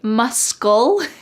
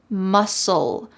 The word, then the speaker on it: muscle: Notice that the C in the word muscle is silent. Do not say muscle. Instead, it's just muscle.